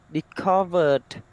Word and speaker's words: discovered: That sounds D, right? D. Discovered. Yeah. Discovered.